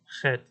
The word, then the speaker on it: Chet: Chet makes the Ch sound. This one is probably the most problematic letter for people to pronounce. But if you can imagine you clearing your throat a little bit, so that's kind of this guttural sound that what usually comes out.